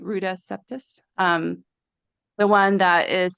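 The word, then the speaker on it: Ruta Sepetys: I I read um recently read a book by Rudus Septus. That's how you say it. Ruda Septus.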